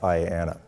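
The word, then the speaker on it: IANA: numbers Authority or IAA usually just pronounced Ayana they manage both ipv4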